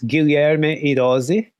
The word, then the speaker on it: Guilherme Hirose: So, and we'll talk about, I'm going to butcher his name, but is it Guilherme Haros? Is that how you pronounce? I mean, yeah, kind of like in Portuguese, it's Guilherme Hirose.